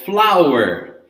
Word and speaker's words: flour: So the first one that we have over there, we have it, and it's called flour. Attention here. Flour is the same pronunciation as flower, as the plant, right?